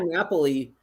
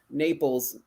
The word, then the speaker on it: Napoli: Napoli Pizza so yeah Napoli Naples as we say in the United States but they said Napoli don't sit Naples say Napoli when you're there okay that's how they